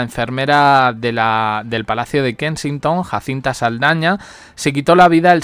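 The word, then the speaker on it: Jacintha Saldanha: Jacinta Saldaña, que aunque yo estoy pronunciando el nombre en español, realmente no se escribe así. Jacinta lleva TH y Saldaña lleva NH.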